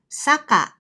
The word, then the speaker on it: 坂: On the other hand, 坂 means a slope. Do you hear the difference when I pronounce them a little faster?